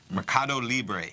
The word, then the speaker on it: Mercado Libre: Mercado Libre. Mercado Libre. Mercado Libre. Okay. You got to remember like Cuba Libre, no, like a rum and coke with a lime. That'll get you there.